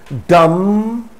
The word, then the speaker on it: dumb: Crumb, dumb, not dumb.